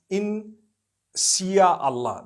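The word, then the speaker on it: Insya Allah: If you look at, the Malay language, they write in Sia Allah, the SYA. They pronounce the SY the way we pronounce SH.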